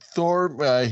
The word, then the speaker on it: Thorne: The E is silent, correct? I called him Doug. so Doug Thorm, I believe. Yeah, I believe. Yes, I think that's right, Phil. Yeah. Okay, so Doug Thorne, he was your man